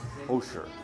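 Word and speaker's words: хуушуур: So this is the Hosher. Hosher. Oh, so it's H-U-U, but it's pronounced Ho.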